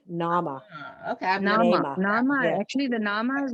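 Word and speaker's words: Naama: n-a-a-m-a say it again like like Mama but with an N Nama okay actually the Nama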